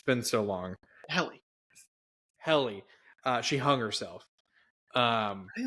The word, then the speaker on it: Helly: The last episode I remember watching was, is her name, is it pronounced Hetty? It's been so long. Helly.